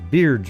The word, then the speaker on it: Baird: Beard's room? Or Baird, but he pronounced it Beard.